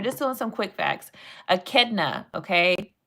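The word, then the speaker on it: echidna: Akidna. Okay, I know it looks like inchadina, but it's a ketna.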